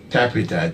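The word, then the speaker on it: Tappita: Tapita, T-A-P-P-I-T-A, Tapita. And Butu is in the records, but it is some people pronounce it wrongly as Butu.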